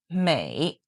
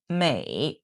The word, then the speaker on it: 美: So here, it chose the pronunciation of America, this me sound, and then they will find a Chinese character that has the similar pronunciation as me. So they chose mei, mei.